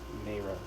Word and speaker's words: Mara: I think it's Mara, actually, because there's a long A on her name.